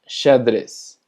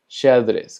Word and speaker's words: xadrez: Taza se pronuncia xícara, xícara. Tenemos sheriff, sheriff. Tenemos xadrez, xadrez, que significa ajedrez.